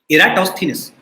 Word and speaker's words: Eratosthenes: sieve of eratosthenes and this is how you pronounce the name you say era toss okay eratosthenes so this thief algorithm